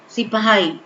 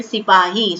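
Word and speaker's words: सिपाही: Sipahi. Okay, but the pronunciation, the word which was used by the British government, so they called them Sipai.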